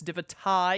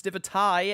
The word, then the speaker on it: Divitae: It's Divitae, and I'm going to do my best to remember that it's Divitae every single time. I'm going to pronounce the tie to make sure that I don't forget, because every neuron in my brain wants to say Divitae when I look at it.